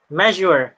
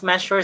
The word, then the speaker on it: measure: Measure. So sometimes it is pronounced also as measure sa atin sa Pilipinas. Pero when you look at the dictionary, letter Z talaga siya, measure.